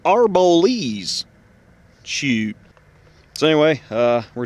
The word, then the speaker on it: Arboles: left uh the old ghost town of uh robles colorado oh shoot mister don't you know it's pronounced arbolese shoot so anyway uh we're down here let's